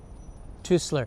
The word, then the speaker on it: Teusler: Tusler. Thank you, Johnny. Thank you. Get the pronunciation right.